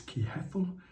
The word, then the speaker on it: Kehethel: 29th and the angel of the day is key heffel and that is spelled k e h e h-e-t-h-e-l and in